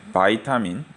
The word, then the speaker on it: 비타민: 예전에는 독일이나 다른 나라에서 또는 소련이라 하면 안 되는 러시아에서 유학하신 분이 많았는데 그쪽에서는 비타민이라는 발음으로 읽는데 지금은 바이타민 영어로 미국식 영어로 읽는 게 익숙해져 있기 때문에 지금 그 학파가 강해졌기 때문에 용어가 바이타민으로 불리고 있습니다.